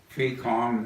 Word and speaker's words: FECOM: FECOM, that was how you pronounce FECOM, which stands for Far East Command.